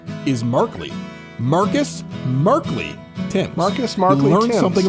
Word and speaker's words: Thames: I'm going with Thames. You went with Thames. According to Baseball Reference, it's Timms.